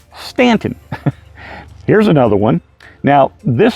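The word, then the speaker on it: Staunton: it is not pronounced stunting it's Stanton you know for some reason we just decided that we didn't have to blend the A and the U together to make one sound so when you come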